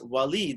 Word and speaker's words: Walid: a wallet there and whenever you say my name like that i know that you don't know me because it's walid that's how you say it and so even though it's spelled that way and i said speaking